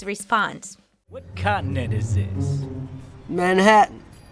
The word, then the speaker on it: Manhattan: Manhattan. Instead of pronouncing the T clearly, Manhattan, most Americans say it with the same stop. Uh-oh. Hatton. Manhattan.